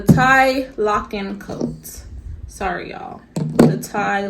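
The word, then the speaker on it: Tielocken: whatever, Thomas Burberry now patents the tickle-loin. No, that's not how you say it. The tie locking coat.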